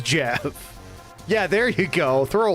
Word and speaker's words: Geoff: I'm talking about, is it Jeff? Do you really pronounce that Jeff? Geoff. It's pronounced Jeff.